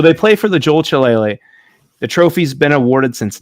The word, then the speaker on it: Shillelagh: Now, Ryan, can you help me pronounce, what's the name of the trophy? How do you say that? The Jeweled Shillelagh. Shillelagh.